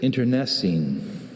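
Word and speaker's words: internecine: Medica, your word is interessine.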